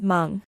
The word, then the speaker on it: Hmong: For example, the word Hmong, which in RPA would be spelled mu, is simply pronounced Hmong, with an almost inaudible aspiration at the beginning of the word.